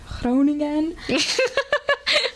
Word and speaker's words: Groningen: I study in the Netherlands at the University of Groningen. Yeah, they pronounce it like that.